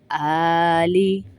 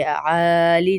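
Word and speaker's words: آلِ: یہ بھی غلط ہے۔ علی آلی، آلی ہے، عالی نہیں ہے، وعلی آلی محمد۔ محمد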